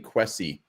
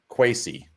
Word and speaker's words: quasi: the cleveland browns and i would actually pronounce what you keep saying quessy it sounds like it's quasi yeah that's what it